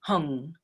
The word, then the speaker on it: Hum: just through three syllables om ah and whom or if you prefer the tibetan hung either one works you